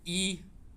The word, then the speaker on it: Yi: um my name is y i y n so start with two letters y I pronounced as e not y so e my domain name is